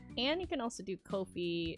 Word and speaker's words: Ko-fi: Ko-fi rhymes with no-fi, by the way.